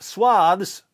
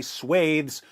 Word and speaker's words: swaths: as they seize vast swaths. Yes, I know some of you say swaths and some of you say swathes. There's no agreed upon pronunciation anymore, so get over yourselves, you freaking pronunciation Nazis.